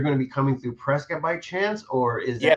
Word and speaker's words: Prescott: So pronounce it for me. Is it Prescott or Prescott? Prescott.